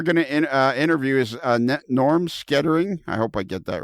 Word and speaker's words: Skretting: How do you pronounce your name, Norm? Skretting.